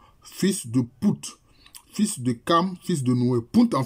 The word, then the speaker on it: Cham: Maintenant, il dit, quant au fils de Cham, ou bien Cam, bon, ça se prononce Cam, ça s'écrit Cham, mais ça se prononce Cam.